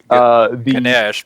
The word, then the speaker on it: Ganesha: It is spelled with an A at the end, but it is often just said Ganesh.